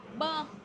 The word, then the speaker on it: bơ: Bơ, How do you say avocado?